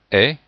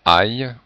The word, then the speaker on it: ait: Attention à bien avoir la prononciation est et non pas aille au subjonctif qui serait le verbe aller.